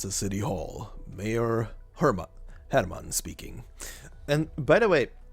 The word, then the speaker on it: Hermann: will be using the German pronunciation for uh Hermann for his name and I